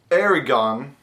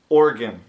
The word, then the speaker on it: Oregon: it is not pronounced Aragon or Oregon but it's pronounced organ kind of like organ like in your body like you got different